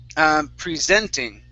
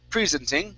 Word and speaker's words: presenting: Next up is presenting. Okay, so stress here. Instead of presenting, it's presenting. All they care about is presenting their information.